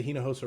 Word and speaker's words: Hinojosa: guest david i've worked really hard to say hina hosa right so if i say it wrong you